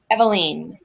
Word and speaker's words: Eveline: more time for me eveline as in the ground will story from Dubliners by James Joyce perfect okay i'm getting